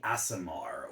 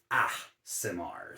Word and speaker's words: Aasimar: we're GNA talk about the asamar or Asmar it depends on who you ask the brand new books uh pronounces it ASMR so we're going to go with that the ASMR are effectively